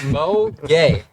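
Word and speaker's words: Mo Gueye: last night why you laugh what's his name Mo gay not spelled the same as Rudy it's um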